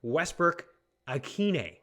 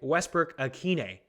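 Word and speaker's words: Westbrook-Ikhine: learned this week is the pronunciation of nick westbrook akine that's right nick westbrook akine i learned a lot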